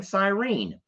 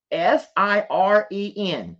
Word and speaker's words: siren: what I'm saying wrong why are there so many people laughing about me saying Cyrene that's just what I thought we called them uh there y'all stop s-i-r-e-n Cyrene or siren siren maybe it's pronounced siren a police siren it doesn't matter y'all